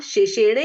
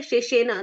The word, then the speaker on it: शेषेण: Line है श्रुत्वा धर्मान शेषेणे है या शेषेना? दीदी उससे लास्ट वाला वर्ड उच्चारण बता दीजिए। शेषेण। पढ़ा? हाँ, ण पूर्ण जी, है, जी। कोई भी मात्रा के बिना, लेकिन पूर्ण।